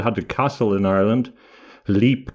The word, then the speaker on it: Leap: a castle in Ireland, Leap Castle, or I think it's pronounced Lep Castle in Offaly.